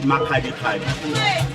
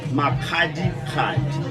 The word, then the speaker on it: Makgadikgadi: And sometimes I feel like we mispronounce it by calling it Makgadikgadi, and then it doesn't have meaning to it. But can I get it for the last one? Yeah. It's Makgadikgadi So you hear that?